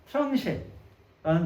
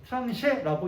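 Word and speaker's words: tranche: 왜냐면 왜 못 봤냐면 이건 프랑스니까. 프랑스어로. 트랑쉐라는 단어고요. 트랑쉐라고 읽고 이 단어는 무슨 뜻을 의미하냐면 이 뜻이에요.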